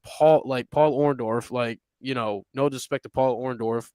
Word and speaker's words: Orndorff: Paul Orndorff.